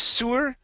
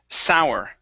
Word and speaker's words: sour: And last word here, instead of sewer, the word is sour.